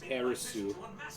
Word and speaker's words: Aerith: I never understood why the way that you pronounce it in Japanese is Aerisu. Yeah, TH is S, right? Yeah, and I don't understand why Su translate the TH in English.